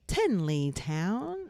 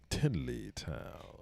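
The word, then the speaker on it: Tenleytown: stops to live near are Bethesda Metro Station, Tinleytown, that's how they say it, Tinleytown, and Friendship Heights.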